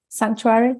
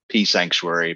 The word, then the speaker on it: Psanctuary: do you say Sanctuary Sanctuary with the people Sanctuary it's uh it never ceases to surprise me when people say pea Sanctuary because we never say peace psilocybin or Psychiatry but for